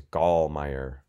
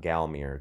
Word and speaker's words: Gallmeyer: My last name, by the way, is Gallmeyer, not Galmier, Gallmeyer. Very German, got to think German.